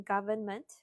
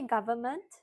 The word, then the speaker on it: government: Must you pronounce the N in government? You say government.